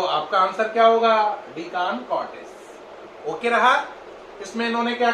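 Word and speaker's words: De Chancourtois: कई लोग कान को CHAN को कान की जगह CHAN चैन भी बोलते हैं, डी चैन कॉर्टिस, लेकिन इसमें सही प्रोनाउंसिएशन डी कान कॉर्टिस ही है।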